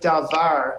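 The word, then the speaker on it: דבר: we have the word davar in front of us and this is a two-syllable word it breaks up into da and VAR you can see the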